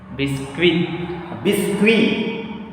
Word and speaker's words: biscuits: Biscuit because see, generally this word is ending with T. Yeah. We are adding S to make it plural. and you know that there is silent consonant, final silent consonant.